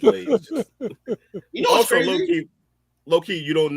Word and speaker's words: Lanez: I mean, it is spelled like Lanez, but it's Lanez.